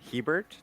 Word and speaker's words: Hiebert: We are joined today by Dan Heert. Did I pronounce that right?